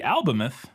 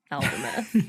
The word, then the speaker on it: Albemuth: And then in the movie trailer, Alanis Morissette's character pronounces it Albemuth. Which like moo, like a cow. Yeah, maybe the Canadian pronunciation. It's funny because that wasn't my other option. Mine was Albemuth or Albemuth. Yeah. And she didn't say muth, she said muth, which is different.